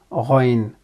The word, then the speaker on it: غ: It is pronounced as Ghayn, and the sound is Gh.